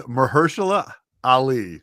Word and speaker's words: Mahershala Ali: I know who that is, and that guy is Mahershala Ali.